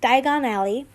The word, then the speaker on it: Diagon Alley: Diagon Alley. Thank you. Someone told me how to pronounce it like that.